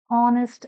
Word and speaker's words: honest: An honest life.